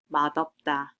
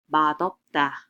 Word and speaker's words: 맛없다: So this d sound now gets shifted up and it's being pronounced as 맛없다, 맛없다 instead.